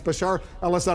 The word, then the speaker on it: Bashar al-Assad: Bashar al-Assad, I know you've mispronounced his name a few times, but it's Bashar al-Assad.